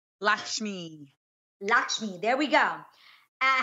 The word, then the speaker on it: Lakshmi: what you guys recently Top Chef host Padma lacks key as I say her name Lakshmi Lakshmi there we go I had yo she